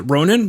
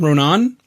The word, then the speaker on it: Ronin: They have a new album called, and I probably should have asked how to say this, is it Ronin? Ronan? It's Ronin, yeah.